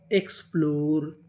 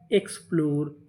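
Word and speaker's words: explore: आपको बता दूं कि अगर आपको इंग्लिश की किसी भी मीनिंग के आखिरी में इ लिखा मिले तो हम लोग इ का उच्चारण नहीं करते।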